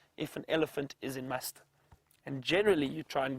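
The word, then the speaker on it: musth: are in a stage known as must which is spelled m s t h and apparently an Indian word must is the the stage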